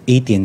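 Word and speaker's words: A'tin: curiously being happy for their sb-19s atin or more popularly pronounced 18 fans the music video of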